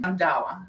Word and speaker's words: Randhawa: Randhawa. Yes. Perfect. This time I pronounced it correctly.